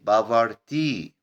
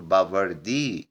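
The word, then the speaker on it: poverty: كلمة بافرتي وممكن تنطق التي دي فتقول بافردي يعني فقر.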